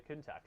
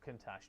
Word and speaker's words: Countach: It certainly made it to the end of the Countach life, or Countach, depending on who you believe pronounces it appropriately.